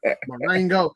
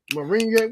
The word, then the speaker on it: moringa: Marengo.